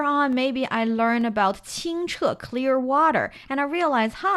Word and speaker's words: 清: It's a 3-dot water sign, suggesting we're talking about the water is very clear, and it's pronounced 清.